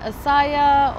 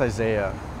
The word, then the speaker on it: Isaiah: Is it Asaya or? It's pronounced Isaiah.